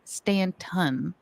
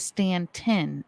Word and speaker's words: Staunton: with that being said Joe told us it is not Stanton it is stantin and that the locals